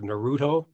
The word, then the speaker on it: Naruto: of voice work she did the voice of naruto am i pronouncing that right yeah and uh you know